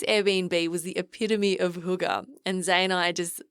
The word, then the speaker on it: hygge: was quite hooker now hooga is a word that i love it's about h-y-g-g-e pronounced hygge and it's a danish word and it roughly translates